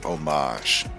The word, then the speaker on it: homage: The word you were looking for is homage. The H is silent.